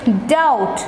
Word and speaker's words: doubt: silent b is silent the letter b is silent it's d o u